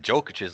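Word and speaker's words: Jokić: I mean, Julius Randle's playing really great, but I'm not sure he's playing on Jokic's level. Uh, his name's actually Jokic. I should say his name correctly because I think he is the MVP.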